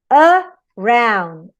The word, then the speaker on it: around: For example, in a word as around, you have the primary stress in round, only one stress.